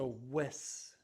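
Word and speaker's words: Wiss: I wouldn't go Harbor Freight route on this stuff, but these snips are, they're whiz, I reckon you could say. It's spelled like piss, but with a W.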